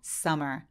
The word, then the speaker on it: summer: 썸머라고 되게 많이 읽으시는데 한국말처럼 m이 두 개 있다고 해서 똑같이 썸머 이렇게 소리 내지 않고 하나만 발음해서 summer summer라고 해주시면 돼요 그리고 우리가 컴마 찍는다고